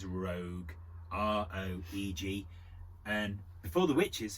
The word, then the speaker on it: Roeg: I never know how to pronounce this guy's surname, but I think it's Roeg.